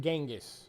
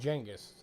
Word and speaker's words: Genghis: That's how you pronounce his name. It's not Genghis. It's Jenis.